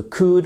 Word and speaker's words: could: Donc on met bien notre could, on met bien notre please à la fin. Et évidemment, you do not pronounce the letter L, okay? You do not say never ever could.